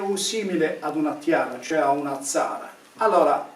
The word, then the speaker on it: Tiara: Se utilizziamo però la linguistica sappiamo che quella T + I più vocale ad inizio di parola si pronunciava come la nostra Z sorda. Quindi Tiara diventa Zara come il cognome sardo di Zara o di Zara.